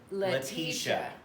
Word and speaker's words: Letitia: Oh, if you say my name on your video, it's pronounced Letitia.